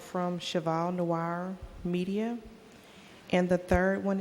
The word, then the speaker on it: Cheval Noir: Cheval Noir Media, and the 3rd one is from Office Depot.